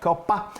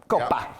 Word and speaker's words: Coppa: So this is Italian cured ham called Coppa. I'm sure I'm saying it wrong. Don't rake me over the coals. Coppa. But you have to say the pa.